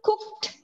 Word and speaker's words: cooked: Tapi kalau saya bilang I cooked, ada ed-nya. I bukan cooked ya, tapi bacanya kasih deh belakangnya.